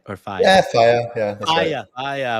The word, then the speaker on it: Faja: Yeah, Faja.